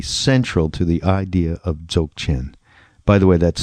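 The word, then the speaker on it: Dzogchen: that would be central to the idea of joke in by the way that's spelled d z o g CH e and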